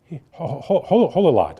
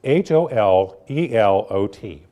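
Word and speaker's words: הוללות: But this word is transliterated into English as hololot, I think is how you say it. It's Holelot.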